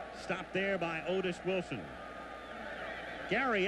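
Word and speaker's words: Gerry: Gary Ellis, and that is the way he pronounces it, even though he spells it G-E-R-R-Y. It's Gary Ellis, and he's been here for 7 years now.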